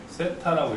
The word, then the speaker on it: 세타: 중심각을 세타라고 읽을 거야. 뭐라고? 세타라고. 제타요? 세타. 아, 세타.